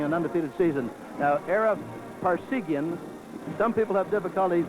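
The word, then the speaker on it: Parseghian: I remember being at a banquet with you and you told the toastmaster that's pronounced just like par like in golf, sig like in serums whiskey, and yen like in Japanese currency.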